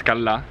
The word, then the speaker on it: Callà: Comunque seguitemi, Callà, con l'accento sulla A, che tutti non lo mettono.